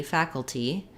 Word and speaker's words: faculty: cases faculty faculty yeah this one is optional so you can say a true tea faculty or you can use a flap here faculty faculty just like in later this letter a says the a black cat vowel we also again have first syllable stress so fatigue tea think